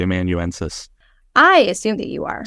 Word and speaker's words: amanuensis: No, spell it. I'm not a great speller either. A-M-A-N. Amanuensis. U-E-N-S. Thank you. There you go. I'm gonna pretend that I'm pronouncing it correctly. Amanuensis.